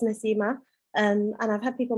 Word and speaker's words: Nasima: mispronouncing my name um it's quite easy to say it's nasimah and i've had people